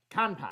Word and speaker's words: Kanpai: Kanpai. Kanpai.